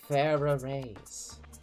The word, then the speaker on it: Farah Rays: And how is that pronounced? Like how I just said it. Farah raise. Thank you.